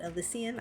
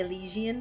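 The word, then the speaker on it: Elysian: El an alysian tale that's how I think they pronounced it alysian I I keep wanting to say Elian Tale But it's they pronounced it alysian Al elisian tail so and I'm not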